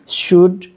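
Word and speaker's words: should: এই ভুলটা করে দেখো এল এবং ডি শেষ বর্ণে থাকলে এল এর উচ্চারণটা হবে না তাহলে উচ্চারণটা হবে কি সুড উড মাইট তাহলে মে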